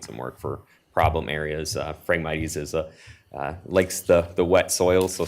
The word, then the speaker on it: Phragmites: How do you pronounce that, Madam? Phragmites? Phragmites.